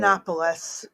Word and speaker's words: Yiannopoulos: Yiannopoulos.